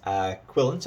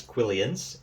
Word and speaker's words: quillon: Now, the correct pronunciation is quillin. You'll often hear them referred to as quillions, and that's a throwback to the old style of spelling.